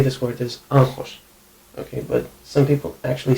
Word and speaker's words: άγχος: For example, γχ(gamma-hi), this is γχ(gh-h) if you try to say it. And I say it, γχ(gh-h) usually. But, when you are talking quickly you might actually say it like "νχ"(nh). Like, "e(nh)ance". The word that comes to mind that uses this is άγχος(a-gh-hos).